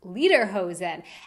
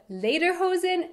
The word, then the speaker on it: Lederhosen: In the US, you'll actually often hear this word pronounced Lederhosen. And yes, I have definitely been guilty of saying it this way as well. But in fact, that's not even what they're called. In German, Lieder are songs, so Lederhosen would be something like song pants, when in fact they are leather pants.